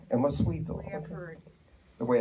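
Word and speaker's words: 14ymedio: So how is the Spanish pronounced? Emosuido. Emosuido.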